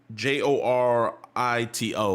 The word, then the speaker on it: Jorito: to write it out j o r i t o like Dorito but jorito oh jorito right y'all